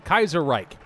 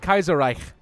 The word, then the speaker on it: Kaiserreich: Kaiser anka now been corrected on how I pronounce Kaiser right before I just say I just know with the American pronunciation Kaiser Reich I know it's like Kaiser Reich kind of thing but